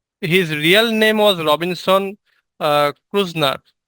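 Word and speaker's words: Kreutznaer: real name was Robinson ক্রুজনার এটা হচ্ছে তোমার একটা জার্মানি ওয়ার্ড জার্মান ওয়ার্ড ক্রুজনার এরকম একটা আর কি উচ্চারণ তো যাই হোক আমরা ক্রুজনার বলবো আর বানানটা ঠিক রাখবো যদি কখনো রিয়েল নেমটা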